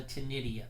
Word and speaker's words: ctenidia: The proper name of a gill is called a ctenidia. The C is silent.